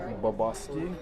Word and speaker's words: Bobosky: Folks, we're live with now help me pronounce your last name. It's Bobosky.